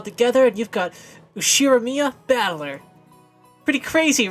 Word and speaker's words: Battler: The problem is my own name is made up of the characters for fight and person, and it is pronounced Battler. Put it all together and you've got Ushiramiya Battler.